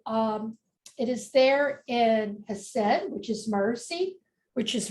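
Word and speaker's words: Chesed: you're looking at and that is pronounced has said and um in English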